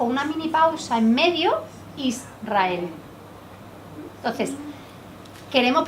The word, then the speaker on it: Israel: erre detrás porque porque si yo no hago una mini pausa entre la s y la r no digo bien la palabra pronunciar israel sin pausa como nosotros lo decimos israel si yo digo una